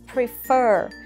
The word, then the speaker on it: prefer: Thứ nhất các bạn để ý là cái trọng âm của cái từ này nó rơi vào âm thứ mấy? Nó có hai âm tiết và trọng âm của nó sẽ rơi vào âm thứ hai.